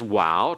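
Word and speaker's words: Waw: The next one is Wow, transliterated with a W. And sometimes it's translated with a V for modern Hebrew pronunciation and modern Hebrew Hebraists. And so the sound is like in wow, or in modern Hebrew it has the sound of a V like in vat.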